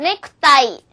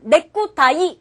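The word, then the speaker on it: ネクタイ: ネクタイ。ネクタイ。 자, 가운데 쿠가 들어가긴 했지만 넥쿠타이 이렇게 강하게 발음하지 않고 쿠는 살짝 약하게 발음하시면 조금 더 예쁜 발음이 됩니다.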